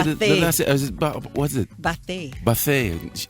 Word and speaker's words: Bathe: Ryan Michelle Bathe. Did I say the last? What's it? Bathe. Bathe. I told you, because I saw accent on the E.